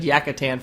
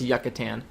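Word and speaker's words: Yucatán: sure the last episode i said yakitan for some reason i don't know i guess i kind of forgot how to pronounce yucatan there's a u in there you know that there's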